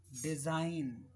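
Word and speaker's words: design: डिजाइन, इसमें जी silent है।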